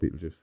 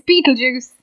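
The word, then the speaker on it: Betelgeuse: betes be juice huh be juice what about pet juice that's pet juice yeah pet juice is that how it's pronounced am I saying it right no say what it's Beetle Juice I don't know what you're trying to say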